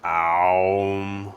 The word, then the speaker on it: Aum: it as Om, or some say it pronounced as Aum with like an A-U-M.